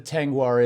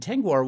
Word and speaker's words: Tengwar: into it and say it's spelled t-e-n-g-w-a-r and tanguar was a language that was